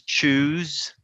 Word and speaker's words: choose: okay here's a tip every time you see an s in between two vowel sounds it can be a z sound so you can say choose and use next is the diphthong